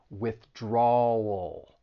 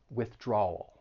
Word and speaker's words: withdrawal: with that dark l so you're going to stress that second syllable and move right into that dark L which is has that all sound withdrawal draw wool withdrawal just keep practicing give